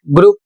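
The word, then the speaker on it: group: अगला शब्द है जी आर ओ यू पी और इसे पढ़ा जाता है ग्रुप जिसकी हिंदी होती है समूह।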